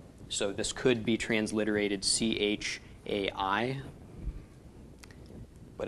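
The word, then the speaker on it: חי: Chai. Yes. First we pronounce the ch of the chet. followed by the A of the vowel, followed by the Y of the Yud.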